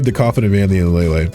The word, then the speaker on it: Lele: actually I this is nice how do we pronounce lelay lelay I was right the entire time guys do